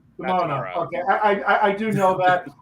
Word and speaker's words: Demona: Also, her name is Demona. Demona. Okay, I do know that. I just, for some reason, I say it like that. I know it's Demona.